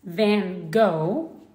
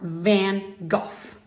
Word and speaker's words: Van Gogh: In English, it's pronounced Van Gogh or Van Gogh.